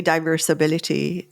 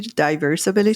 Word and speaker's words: diversability: use both word but I say diversability because it Rhymes also with disability diversability disability yes but but